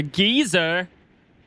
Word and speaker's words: geyser: Start looking for a gizzer, everyone. A geyser. What the A geyser. That's how they That's how they say it.